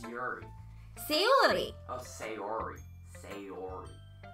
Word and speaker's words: Sayori: Sayori.